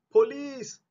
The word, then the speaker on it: police: Sebab untuk perkataan ini, sebutannya bukanlah police. Tetapi, police. Police. Dia bunyi macam kalau kita sebut please help me.